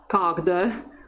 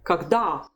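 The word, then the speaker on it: когда: the stressed syllable so it's never kogda but kogda say it at least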